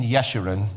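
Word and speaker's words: Jeshurun: He was a king in Yeshiran. J's are usually pronounced as wise in Hebrew.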